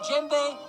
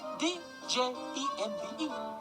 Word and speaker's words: djembe: But, alas, the French language has no hard J sound. So we added a D to the front of djembe to spell it D-J-E-M-B-E. Pronounced in French, Djembe. Thank you. But in English, the D is silent. Djembe.